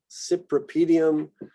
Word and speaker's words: Cypripedium: Y, Yucca, Cyperus, Cypripedium. So again, another pair of words that have the same CY with different pronunciations.